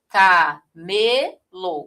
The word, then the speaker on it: camelo: Camelo, mostrando aqui que a posição 2 é que tem a sílaba tônica.